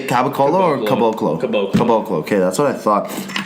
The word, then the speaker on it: Caboclo: Caboclo.